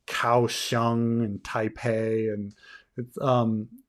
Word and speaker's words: Taipei: we go and here's taipei and thai and taipei taipei taipei the pay the pay in taipei is the same bay as in beijing it's just that they're on two different romanization systems and so you we